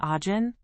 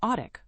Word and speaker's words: Ajin: Instead of saying Ajin, he says Audik, which sounds like a puppy's name.